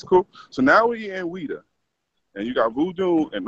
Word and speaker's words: Ouidah: Now we are talking to you, who you were in a place called, how do you pronounce it again? Ouidah.